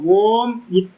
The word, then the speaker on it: ஓம்: பிரிச்சு விச்சாரத்துக்கு மட்டும்தான் பயன்படுத்துவோம் உச்சரிக்கும் போது வந்து பாத்தீங்கன்னா ஓம் ஏகாக்ஷரம் பிரம்ம ஓம் என்பது ஏக்க அக்சரம் அப்ப ஏக அக்சரத்தை வந்து பார்த்தீங்கன்னா செப்பரேட் பண்ணி ஆம் சொல்லக்கூடாது அப்படி சொன்னீங்க அப்படின்னா பிரேக் பண்றீங்கன்னு அர்த்தம் அது ஏகாட்சரத்தை பிரேக் பண்றது விச்சாரத்துக்கு